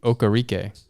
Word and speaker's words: Okereke: Bobby Okereke.